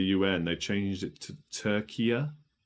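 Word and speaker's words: Türkiye: They changed it to Turkiya. Turkiya, I think it's pronounced.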